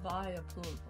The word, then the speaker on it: Vileplume: How this pronounced? Vileplume. Vileplume.